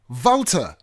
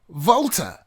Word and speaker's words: Walther: the correct pronunciation is voter so the W almost sounds like a V or soft F and the th turns into just the T voter now could be wrong